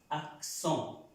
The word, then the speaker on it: accents: este es un sonido nasal, esta E con esa N adquiere un sonido de una O, pero es una O nasal. Entonces esa palabra se pronuncia axón, axón.